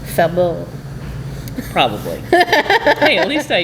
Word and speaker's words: Faubourg: It's probably a little more French, too, in its pronunciation, like Faubourg.